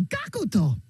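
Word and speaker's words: Gackt: I'd love that they're just adding extra syllable. I don't know how that works, but the way it's spelled is G-A-C-K-T. And the way it was spelled there is G-A-C-U-K-U-T-O. Gakuto. I don't know, man. I don't know. I guess that's how you just pronounce it in Japan.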